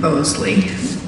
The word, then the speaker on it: Bosley: And so Sharon Bosley, yeah, B-O-S-L-E-Y, that's how it's pronounced.